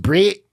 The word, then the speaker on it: Brett: Sturman drawing in about so I looked up Brett Murray and I I actually really liked his art the only thing I didn't like was there was this weird piece on him pronounced Brit Brit yeah that's a good South African accent